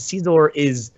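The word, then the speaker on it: Scizor: His scissor. Thank you, Pokken. That's the official that is the official pronunciation, you guys.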